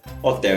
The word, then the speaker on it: Hotel: escreve da mesma forma, mas a pronúncia é um pouco diferente. Hotel em alemão a gente fala Hotel, das Hotel.